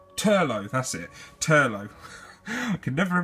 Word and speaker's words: Turlough: one once and you are I can never pronounce his name it Teagan the no o Turlough that's it Turlough could never have ever is